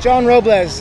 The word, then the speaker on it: Robles: How did you pronounce your last name yourself? John Robles. You know, so he was right. Growing up, I got called Robles, Robblebacher, anything under the sun.